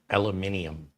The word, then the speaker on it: aluminium: The metal case is likely some lightweight aluminum type material would be my guess. Or as the British say, aluminium. Gotta add the extra I in there for our friends in Europe.